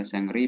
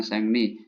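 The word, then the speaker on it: 생리: Sengni juga ya cuti ya, Sengri bacanya Sengni, cuti haid ya untuk perempuan.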